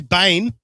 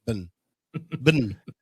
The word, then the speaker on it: Brisbane: What's going on, my friend from Brisbane, Queensland, Australia? Oh, from Brisbane. You don't say Bane. It's just Brisbane.